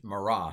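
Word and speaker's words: מרא: Is Mara, sorry. Most Hebrew words like to accent the final syllable, except with exceptions.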